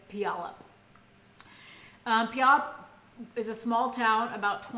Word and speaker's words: Puyallup: And she was raised by her mom, so a single mother, in Puyallup, Washington. I think that's how you pronounce it. Looks right? Puyallup.